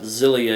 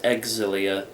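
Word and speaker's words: Xillia: that one right uh I saw online a lot of people were saying and it's not zilia it's exilia um so take that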